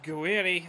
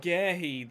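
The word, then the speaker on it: Guéhi: Guiri, or not Guiri? Is it good? No, I don't know who it was who made the tackle. Gehi, that's it. Just completely forgot to say his name right because I knew we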